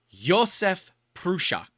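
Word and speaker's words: Josef Průša: I I've been told it is Yosef prusa that's how you properly say his name from Vladimir but I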